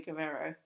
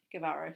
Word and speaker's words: Guevara: on to make it look fantastic maybe sammy guerrero guevara sorry i've pronounced it wrong the whole time i thought